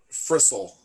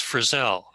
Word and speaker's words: Frissell: no how are you pronouncing it Frizzle I know that's that's it's that's that's a common mispronunciation but it's Frizzell okay for sale there you go yeah okay